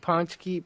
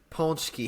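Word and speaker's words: paczki: know damn nice yeah it's spelled uh p a c z k i ponki okay ponki ponki okay there's there's an in in there somewhere it just doesn't exist huh yeah I guess so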